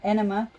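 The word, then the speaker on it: Ænema: They did 46 and 2 and Enema, how do you pronounce it? Enema. It's pronounced either way. Anima or enema.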